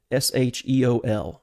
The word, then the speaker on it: Sheol: old testament it is from the hebrew word s-h-e-o-l or sheol as we would pronounce it and it has a variety of